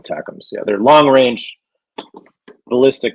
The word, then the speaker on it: ATACMS: They call it attackums.